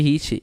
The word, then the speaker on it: Ricci: hiit pessoal foi ou Rice né Como se pronuncia este esse cara aí é o fluxo de Ricci ele faz um análogo da equação do calor